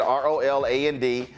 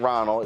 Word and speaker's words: Roland: All right, so if y'all go to her institute, you type in ROLAND. Don't misspell it. It ain't Ronald. It's ROLAND. You get a 15% discount.